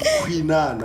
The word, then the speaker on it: Khwinana: So the way you pronounce it, it's easier for people to pronounce it with Khwinana.